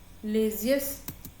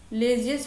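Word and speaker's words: laissez-faire: इसको इसकी स्पेलिंग होती है एल ए I double S ई जेड लेजियस एफ ए आई आर E system S वाई एस टी ई एम ठीक है।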